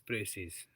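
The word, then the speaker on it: précis: PMS aspirant Sahab या साहिबा, thank you so much for correction, but I always pronounce it as Precis. I will try not to pronounce the last S.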